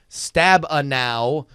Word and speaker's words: Stabenow: show from Friday the 14th of July it's pronounced debbie Stabenow this was of course in reference to senator